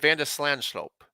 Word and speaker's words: van de Zandschulp: explain exactly how to say it i said vanda slanslope sounds i i think i already lost it